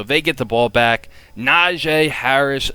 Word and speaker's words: Najee: the ball so they get the ball back najee harris naji harris how he pronounced his name he is going to be